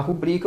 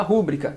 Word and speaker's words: rubrica: Ao invés de falar rubrica, você fala rúbrica. Isso é uma silabada, é um barbarismo por silabada.